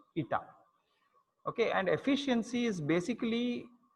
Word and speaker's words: eta: This symbol is eta. It's pronounced eta.